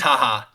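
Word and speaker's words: JAJA: It is haha. Like you're laughing.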